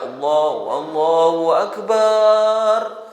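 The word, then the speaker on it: الله أكبر: Ya, kalau misalnya ada yang baca Allahu Akbar, diulang takbirnya. Jadi baknya jangan panjang. Allahu Akbar, Allahu Akbar, bar, gitu saja. Ya, jangan dibaca panjang.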